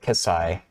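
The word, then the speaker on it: ψ: I don't look like I guess it's pronounced Sai but my prof's always said kissai so that's also bit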